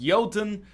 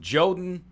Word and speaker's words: Jotun: look at yotan I've been told it is pronounced yoten some people pronounce it joden to avoid confusion but it's yoden and the pronunciation is important because the theming